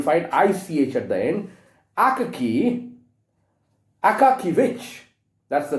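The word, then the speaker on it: Akakievich: Akakivich, that's the name of this man. Akaki, A-K-A-K-Y, Akakivich, Aka, A-K-A, Kivich, K-I-E-V-I-C-H. Sometimes it's also pronounced as Akaki, Akakivik. H is silent.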